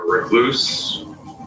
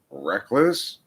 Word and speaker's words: recluse: Genexial, I believe that's pronounced recluse. I think you accented the wrong syllable.